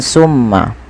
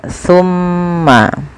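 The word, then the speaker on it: ثم: dibaca dengan Sin ya Jangan dibaca dengan Summa tapi dia tumma pakai ta bukan pakai Sin ya pakai Sa bukan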